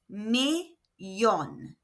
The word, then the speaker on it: millón: Remember that double L is pronounced y in Spanish. So this is millón.